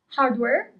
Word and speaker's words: hardware: Hardware in Italian is hardware. We don't pronounce the letter H.